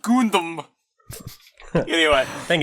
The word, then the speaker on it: Gundam: It's pronounced Gundam.